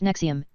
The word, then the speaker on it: NXIVM: Ronnie air of running a cult-like secret society within his organization whose if pronounced nexium in which women were branded with his initials